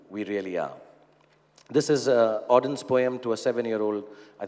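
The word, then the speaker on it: Auden: So So it's a part of a poem from WH Odin. That's how you pronounce it.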